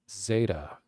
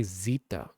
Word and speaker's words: zeta: actual like Greek pronunciation they say Zita in Greek actual Greek but in mathematics they're like Zeta like the Greek alphabet